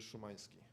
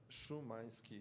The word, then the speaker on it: Szumański: Szumański. It's S Z U M A N S K I. Szumański. Szumański. Okay, thank you. Appreciate that very much. It's Polish. Okay, Mr. Szumański.